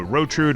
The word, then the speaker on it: Rotrude: Well, last time, we rescued Rotrude, and I realized her name rhymes with Gertrude. So Rotrude, welcome.